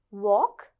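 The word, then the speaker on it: walk: முதல் 3 வார்த்தையிலையும் அந்த L, letter L வந்து நாங்கள் உச்சரிக்கவே இல்லை. அதை நாங்கள் சைலண்ட் லெட்டர்ன்னு சொல்லுவோம். வாக்லையும் நாங்கள் வால்க்குன்னு சொல்ல போகிறதில்ல, வாக். இப்போ எல் வந்து அங்கே சைலண்ட்.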